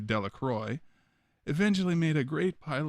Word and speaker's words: Delacroix: jones and dickie delaqua the villagers pronounced his name delacroix eventually made a great